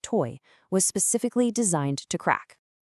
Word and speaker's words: TOI: It's the very puzzle that TOI Chain, and that's TOI, pronounced toy, was specifically designed to crack.